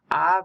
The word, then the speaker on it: Av: Av means father, haha. A-B is the spelling, but you pronounce the B softly.